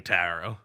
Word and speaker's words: tarot: No, the first T you pronounce. The second T is silent.